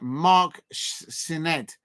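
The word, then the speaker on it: Sneyd: Pronunciation Mark Sined.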